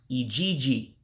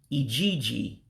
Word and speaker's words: ijiji: But housefly is pronounced Ijiji. Ijiji, housefly. So what we would consider a J in English is actually a G unto them. It has a G sound.